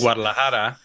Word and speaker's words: Guadalajara: I want to say Guadalajara. No, go on. I'll jump in with the life preserver. Please. It's Guadalajara.